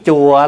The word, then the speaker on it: chùa: Chữ chùa là mình nói trại. Đúng ra mình phải phát âm là trù.